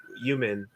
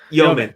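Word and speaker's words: Yomen: that he still has so much reverence for Human, right? Isn't that the guy? Human, is that say? I can't remember how to pronounce it. Yeoman. Thank you. Yeoman, Anyway, okay.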